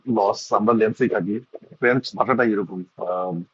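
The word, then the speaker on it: Lens: দুজনের চ্যাম্পিয়ন ধরণ অবশ্য আলাদা পিএসজি war Chase by লেন্স loss এটার উচ্চারণ লস আমরা লেন্সই থাকি ভাষাটা এরকম লেখে কিছু একটা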